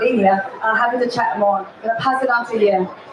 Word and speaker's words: Linea: I've been in the space for a few years, and we just recently launched a zkEVM called Linea, and it's not pronounced as Linea, it's called Linea.